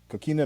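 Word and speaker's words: Kokina: Coquina Maximus? Coquina, Yes.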